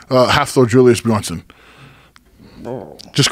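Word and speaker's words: Björnsson: uh half the julius bronson just call him thor say it again half thor julius bjornsson half thor julius bronson bjornsson bjornsson yeah that's it yeah he's a savage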